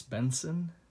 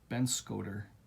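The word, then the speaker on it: Benscoter: Artwork by Wes Benson. Or, I'm sorry. How do you pronounce that there? Ben Scoter, not Benson.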